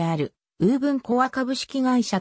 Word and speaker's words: ウーブン: していくなおぶー分の発音は本来はボブんであり仮名書きするのであればぼ部分のような表記が本来の発音に近い自動運転技術の